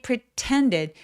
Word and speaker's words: pretended: 자, they pretended. pre는 힘을 빼주셔야 돼요. 강세가 오지 않으니까.